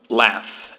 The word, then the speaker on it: laugh: Laugh. Esse GH nós geralmente não pronunciamos. Quando o pronunciamos, ele tem o som de F. Laugh. Como em enough.